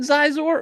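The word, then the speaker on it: Xizor: But did they give you a full Zizor? That's what I'm saying. They give you a name. Give you a Zizor in a holograph. Isn't his name pronounced Shizor? It is Shizor.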